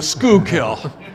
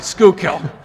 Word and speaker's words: Schuylkill: kanawa and the and the sort of the school kill let's see if I can say it correctly Schuylkill um we've got about 10 minutes these are